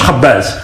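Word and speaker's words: خبّاز: On prononce khabbaz.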